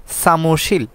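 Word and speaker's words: 사무실: হচ্ছে এইখানে 276 নাম্বারে সামশীল সামশীল অফিস আপনারা সবাই অবগত হবেন যেটা হচ্ছে শব্দের শুরুতে যদি সিওর থাকে তাহলে সেটা স এর মত উচ্চারণ হয় তাহলে সামশীল সামশীল অফিস তারপরে 277 এ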